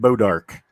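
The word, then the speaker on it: bois d'arc: yeah Arc yeah yeah b-o-i-s-d apostrophe Arc right ball dark right but they pronounce it bodark oh okay because they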